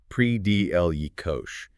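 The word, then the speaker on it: predilection: US pronunciation. Yeah. PL Yosh.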